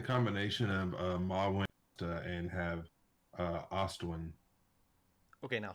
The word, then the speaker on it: Ostwjen: with it, we can put a J before the W and have it Ostwin, or Ostwin with a silent J.